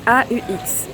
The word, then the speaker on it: aux: Donc au avec AUX. Mais le X ne se prononce pas. Et donc du coup, ici, donc on va dire aller aux Pays-Bas.